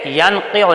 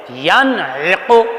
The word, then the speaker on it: ینعق: پیش قو، ینعق ينقع بیٹے ینقع نہیں، ینعق پہلے عین پڑھو پھر اس کے بعد قوف پڑھو، ینعق ينقع بیٹے جس